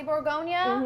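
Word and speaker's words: Bourgogne: it the name is milan de borgonia or which is how you actually pronounce burgundy in french um but the reason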